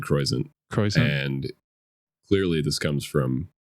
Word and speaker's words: Croisant: My dad said Croisant.